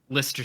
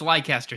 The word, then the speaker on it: Leicester: I'm not calling it Leicester City. No. I'm not calling it that. It's Leicester City. Yeah. Leicester. Yeah. Yeah, I'm already, as if it wasn't evident before, I don't pronounce things well.